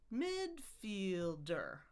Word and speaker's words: midfielder: So, we've got three syllables, but like we said, it's two versions with the stress pattern. We can go midfielder. Or we can say midfielder. Midfielder. Whichever one you like right now because they're both there.